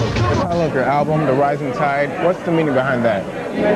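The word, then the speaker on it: The Rising Tied: I love your album, The Rising Tide. What's the meaning behind that? Well, we spell it, when you say it, it's just the rising tide, like the ocean, but it's actually spelled T-I-E-D.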